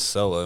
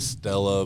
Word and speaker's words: Selah: was like, yeah, that's Sella in my head. So that's Yeah. how we went with it. Really? Yeah. Huh. Yeah, and a lot of people still pronounce it Stella, but it's just Sella.